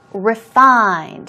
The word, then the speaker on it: refined: dramas what a refined refined here we go stress goes on the second syllable and as I told